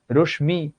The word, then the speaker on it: রশ্মি: এখন এটা কি তোমাকে আমার শেখাতে হবে? পদ্ম, তুমি তো পদ্মও বলো না। ছদ্ম নাম, রশ্মি, তুমি তো বলো না, তুমি নিজেই তো জানো এটা উচ্চারণ পদ্ম, ছদ্ম, রশ্মি। তার মানে তুমি নিজেই টেকনিক্যালি বলতে পারছো যে ম ফলার সঙ্গে যুক্ত বর্ণ হিসেবে যে বর্ণটা থাকে সেই বর্ণটা দ্বিত্ব হয়।